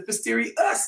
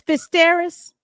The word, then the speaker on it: Fisteris: It's Fisteris. Fisteris. Fist. Okay, look here. Look at how I'm about to spell it. Okay. Fist. Terrace. Okay. Oh, the terrace. Yeah, so fist and there's a terrace. There you go. That is correct. Oh, well, that is exactly how it's So that's what your name is Fisteris. See? It's spelled FIST hyphen TERRACE. Fisteris. It is phonetically correct.